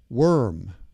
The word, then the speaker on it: worm: And the OR in worm sounds like ER, like bird, or teacher, word, worm.